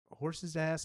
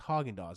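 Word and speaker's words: Häagen-Dazs: So you all had any of this horse's ass ice cream? And it was Haagen-Dazs. It was like, how did you mispronounce it that bad?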